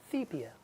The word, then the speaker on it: sepia: It is pronounced sepia.